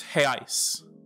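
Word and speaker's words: reais: much for saying that he says brazilians left their r in europe and replaced it with an h so again the singular is hale and the plural is hey ice hey ice i'm gonna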